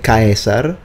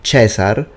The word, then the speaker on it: Caesar: So whether you say Caesar, the classical pronunciation, or Cesar, the ecclesiastical pronunciation, they're both correct. It would be a mistake if I had said that the Romans said Cesar. That would be a mistake, because they said Caesar, most likely.